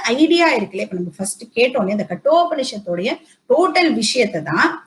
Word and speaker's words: Katho: ஆக்சுவலா அதை கத்தோ அப்படின்னு நம்ம படிக்க கூடாது. ஆக்சுவலி அது எப்படி படிக்கணும், கட்டோ டா செகண்ட் டா கட்டோ உபனிஷத் அப்படின்னு தான் இதை நம்ம ப்ரொனவுன்ஸ் பண்ணணும்.